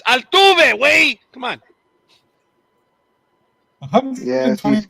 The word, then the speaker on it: Altuve: Something about Jose Altur. I think that's how you say his name. You mean Altuve?